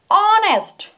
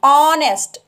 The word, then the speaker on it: honest: was - honest King honest H is silent honest and we were used